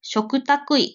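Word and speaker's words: 嘱託医: を密にし嘱託医これ食卓医と読みます嘱託医等と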